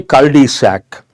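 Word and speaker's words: cul-de-sac: a dead end Road we have to say cisac do you guys remember I have given a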